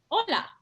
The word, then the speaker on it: hola: The fact that the letter H is silent in Spanish. So we have the greeting, hola, all right, means hi or hello.